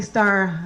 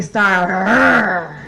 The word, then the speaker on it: Starr: hippie, also like y'all, so it's Starr with 2 R's. So it's actually pronounced Natalie Starr. And for those of you, I don't know, there's some white people in this crowd who cannot roll your tongues, I will accept Natalie Starr.